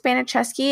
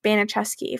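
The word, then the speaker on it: Baniszewski: benicheski I think it's banachesky it's b-a-n-i-s-z-u-s-k-i which I think it's banachesky from what I've heard like pronounced on news sounds like it yeah yeah um so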